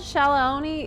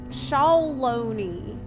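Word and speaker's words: Shaaloani: do you get it I've been told shaoni is pronounced shalone shaone shalone like that oh that sounds bet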